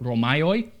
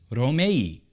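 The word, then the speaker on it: Ρωμαῖοι: And in English, we pronounce it Romaioi, but in modern Greek, it's Romei.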